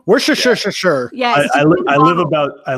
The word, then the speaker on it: Worcestershire: they never put enough wisher Worcestershire how do you say that I've never said yeah there you go we're sure sure sure sure yeah I live about